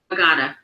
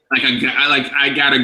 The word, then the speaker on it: Agata: How do we pronounce this name? Agata. I'm sorry. I gotta go. Like I gotta. I gotta. So I'm saying that right? I have that New York accent, so I'm probably saying it wrong. But I gotta. Close? Okay, that's close enough.